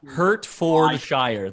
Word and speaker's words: Hertfordshire: it's a sport car hertfordshire yeah hurt for the shire there you go that's how it's spelled